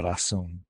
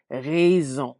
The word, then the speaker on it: raison: So AI a lot of times is going to give us Raison. that E sound. Raison. Mhm. Rhymes with the word for house, which is maison.